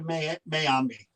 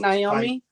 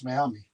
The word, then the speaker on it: Mayami: Does that apply to Mayami? Mrs. Again, apologize if Is it Naomi? No, it's Mayami. Mayami.